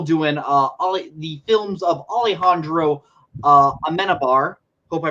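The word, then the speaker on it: Amenábar: We're still doing the films of Alejandro Amenabar. Hope I pronounced that Yes.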